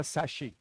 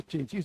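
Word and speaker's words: chassis: क्या होता है कि गाड़ी का सैशी, सैशी मतलब कि जो चेंचिस जो होता है बॉडी को, जिसको हम लोग बिहारी भाषा में चेंचिस कहते हैं, हालांकि वो सही सब प्रोनाउंसिएशन नहीं है, बॉडी मान लीजिए, उसको सैशी कहते हैं, CHASIS.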